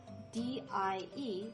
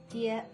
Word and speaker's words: 蝶: Notice, even though the pinyin is spelled D-I-E, this word is pronounced die, not die, like the English word, you know, the one meaning kick the bucket.